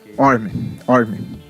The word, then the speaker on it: Orm: O nome dele até, eu não sei como pronunciar, é O-R-M. Orm. Piada interna, mas não. É Orm, é mais ou menos assim.